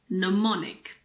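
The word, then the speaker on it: mnemonic: languages you might be familiar with neonic the first m is silent and neonic is something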